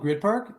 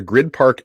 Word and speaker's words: Gryd Park: blocks from the arena the grid park app yep it's spelled gryd park and you know what